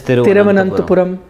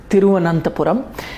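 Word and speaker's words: Thiruvananthapuram: Now it is Tiruvananthapuram. I practiced the pronunciation of how to say it. I was pretty comfortable with Tiruvananthapuram. I used to sometimes stumble upon it. Tiruvananthapuram.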